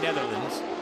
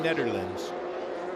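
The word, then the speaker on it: Nederland: It's not Team Racing Netherlands. It's Team Racing Netherlands. It is a D.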